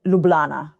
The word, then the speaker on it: Ljubljana: So, officially we say Ljubljana with all the J's that we pronounce as Y's, but the locals would just say Ljubljana. Ljubljana.